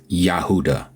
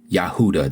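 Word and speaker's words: יהודה: person that understands Hebrew when they call the tribe of Judah in Hebrew they pronounce it as yahuda every single one of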